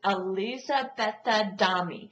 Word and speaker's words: Elisabetta Dami: And these books are written by an Italian author, and her name, I want to pronounce this right, is Elisabetta Dami.